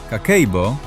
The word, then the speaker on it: Kakeibo: Kakeibo, pronounced Kakeibo, translates from Japanese as household financial ledger, but the translation doesn't do it justice because Kakeibo isn't just a ledger.